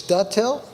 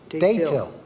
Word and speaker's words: Dutil: I'll read the first one, and it says it's Dutil? Is that how you say it? Daytil. Daytil, okay.